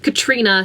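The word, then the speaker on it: Catriona: So instead of being Katrina, C-A-T-R-I-O-N-A, like mine, in this one it's spelt C-A-I-T-R-I-O-N-A. I do think it's pronounced Katrina as well though. There's just one more silent letter to make everyone confused.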